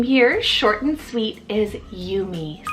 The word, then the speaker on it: Yumi: short and sweet is Yumi so why you am I you me this is the most